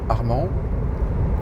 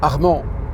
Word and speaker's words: Arman: Sauf que non, il n'y a pas de D dans Armand. Et que deuxièmement, ça ne se prononce pas Armand, mais Arman.